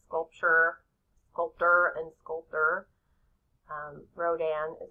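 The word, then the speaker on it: Rodin: kiss very famous sculpture sculpter and sculptor um Rodan is how you pronounce it and it was made in 1886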